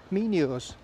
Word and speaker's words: Mimo's: Mimo's. To give it the correct pronunciation.